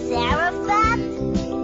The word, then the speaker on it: Zarephath: Is it Zarephath? Did I pronounce it correctly?